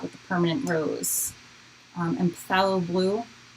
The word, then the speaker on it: phthalo: And phthalo blue, it's like phthalo blue. I don't think you have to pronounce the P, but it's fun.